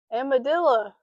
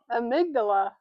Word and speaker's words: amygdala: Today we're going to talk about the amadilla amygdala.